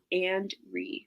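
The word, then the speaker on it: Andree: So, I put and, A-N-D, and then R-E-E. So, and-re.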